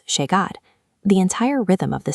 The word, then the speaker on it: llegar: In Buenos Aires, both the double L and the letter Y are pronounced with an aggressive SH sound. "Calle" becomes "kashe". This is an absolute rule applied by everyone in the city. "Yo" becomes "sho". "Llegar" becomes "shegar".